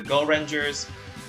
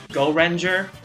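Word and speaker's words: Gorenger: record cover depicting the ninja captors of the go rangers by the way it's pronounced go render this like the melanin effect or something i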